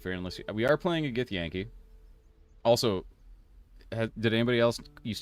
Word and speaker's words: Githyanki: So I was always like, it's a Githyanki. And then Ed was like, dude, it's Githyanki, you idiot. Just say it right.